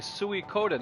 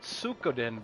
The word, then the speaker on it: Suikoden: knew how to oh he said he okay suey coden okay suey code and there you go thanks foamborn i never knew how to pronounce that so thank you for that i